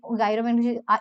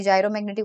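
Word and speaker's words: gyromagnetic: तो ऑर्बिटल, ये गायरोमैग्नेटिक, इसके आगे ऑर्बिटल भी लिख लो क्योंकि ये स्पिन के लिए अलग आएगा। ऑर्बिटल जायरोमैग्नेटिक रेशियो, सॉरी जायरोमैग्नेटिक होता है, मैं गलत प्रोनाउंस कर रही हूँ।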